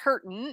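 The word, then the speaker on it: Heerten: put that name and it's pronounced hurtin in my family although it's other branches of the family pronounce it differently h-e-e-r-t-e-n so it is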